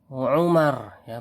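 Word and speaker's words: عمر: Nah, di sini ya Ustadz ingin memberitahukan perbedaan antara di sini apa bacanya Umar ya, bacanya Umar ya.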